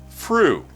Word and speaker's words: Fru: And for the Xbox One, Fru. Spelled like flu, but with an R instead of an L.